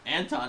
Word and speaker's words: Anton: Yeah, Anton the Trapper, pronounced Anton, is a Breivik trapper, and he is also